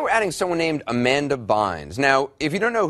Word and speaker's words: Bynes: never heard of Ms Bynes which rhymes with fines as in fines in